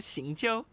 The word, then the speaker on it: Xingqiu: Are you confusing me with Xingqiu? That's how you pronounce his name. I've been pronouncing it yo.